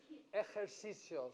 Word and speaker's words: ejercicios: but if you can say it in the back of your mouth, it sounds more Spanish speaking. Ejercicios, but you got to make the sound in the back of your mouth. If not, just say it like an H.